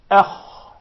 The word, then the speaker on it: أخ: Then you come to the kha, which is heavy, you say akh.